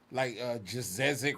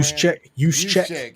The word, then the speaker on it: Juszczyk: If he's an H-back, a guy lining up with Ertz, coming out the backfield, like Jazezik or whatever his name is at San Fran. Juszczyk. Yeah. Juszczyk.